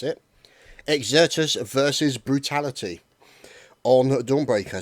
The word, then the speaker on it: Exertus: casting exertus yes we now know how to pronounce it exertus versus brutality on Dawn breaker so looking forward